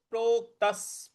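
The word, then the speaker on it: प्रोक्तः: तो योय योगया योय योगसस्तया प्रोक्तस प्रोक्तस देखिए प्रोक्त त के बाद जो प्रो आधा क है उस पर हमको बल लगाना है। प्रोक्तस और त के बाद जो विसर्ग है उसके आगे स है तो इसका उच्चारण विसर्ग का उच्चारण भी हमको स ही करना है।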